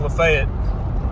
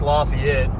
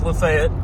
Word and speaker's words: LaFayette: and yes it's pronounced lefet if you're local anywhere else in the country it'd be pronounced Lafayette but here in Georgia it's lefet from leet you go